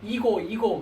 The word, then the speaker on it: ego: 이 영어 발음은 이고 그러죠. 그죠? EGO 에고, 이고라고 합니다. 이고. 네.